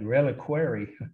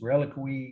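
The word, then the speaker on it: reliquary: Relic some people look like it looks like requer it's Relic that's how I heard it pronounce Guardian I'll spell the word first word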